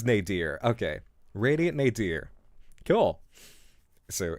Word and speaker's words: nadir: N A D I R. I don't know how to pronounce that. Um, and I forgot to look it up. Nier. It is Nadier.